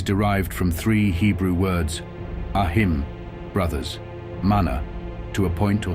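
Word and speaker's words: ahí: Ahi, which is pronounced ahi, is demonstrative and means there, as if pointing to a thing or place.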